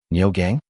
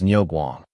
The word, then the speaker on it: Niu Guang: My lord, his name is Ny Guang, the Guang in Guang Mong, meaning dialects are not conducive to communication.